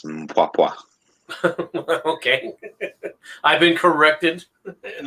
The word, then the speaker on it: Mpwapwa: The Mawapa in Africa is occupied by British.